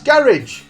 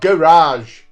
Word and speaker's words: garage: That's garage, not garage.